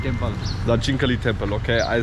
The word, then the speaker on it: Dakshinkali: Dakshinkali Temple. Dakshinkali Temple, okay.